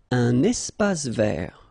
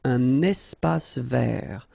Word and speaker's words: espace vert: Un espace vert. First thing, you've got this little link between the two. Un espace vert. Final not pronounced, and then final T not pronounced.